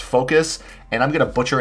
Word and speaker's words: FOKOOS: names but can we can we spell it like we say it apparently it's pronounced focus and i'm going to